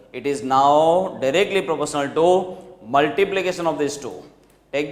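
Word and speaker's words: tau: That combined physical quantity itself is known as torque and it is shown by specific symbol like this to be pronounced as to t a u is its spelling t au to be pronounced as to.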